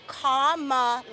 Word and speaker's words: Kamala: Kamala, right? No, it's Kamala, like my sign.